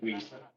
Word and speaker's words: Wiest: Weist. Could you spell that last name, please?